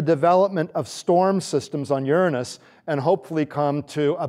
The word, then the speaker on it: Uranus: than a 100 volcanoes going off simultaneously here's Uranus and that is the correct pronunciation for anyone above the age of 6